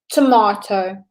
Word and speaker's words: tomato: We have the word tomato. Jess, how do you say it? Tomato. Okay, so Jess and I say it the same, tomato. But you can say tomato. It's how they pronounce it in America. It is fine to say tomato.